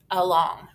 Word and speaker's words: along: it's an open syllable so normally we would say an open syllable would say a but we just learned that it usually says uh so our word is ah long along i see that a